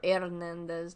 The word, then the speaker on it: Hernandez: Or Hernandez, my bad. You don't pronounce the H.